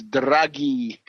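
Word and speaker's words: Draghi: this is this character dragy d r a GH it's dragy uh a hard G and uh this is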